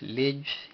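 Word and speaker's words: ልጅ: Le George, y esto viene significando pues Lej, la L y la J, ambas las cuales no se pronuncia con vocal.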